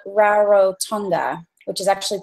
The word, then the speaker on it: Rarotonga: I'm in the Cook Islands, just like when you cook food, and I'm on an island called Rarotonga, which is actually pronounced Rarotonga.